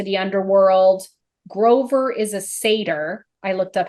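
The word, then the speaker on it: satyr: Percy's mom into the underworld Grover is a Sader I looked up how to say it Sader and a why yeah I I wrote it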